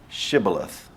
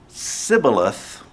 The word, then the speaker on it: Shibboleth: cross the river to pronounce the town Shibboleth. If they said Sibboleth, they were summarily killed because they knew they were not Ephraimites, but they were Ephraimites.